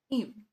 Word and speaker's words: e'en: For instance, we see the word even often written as e v {apostrophe} n, even. e'en so that in a sentence, we can get that as one syllable when sometimes he needs that to fit within 10.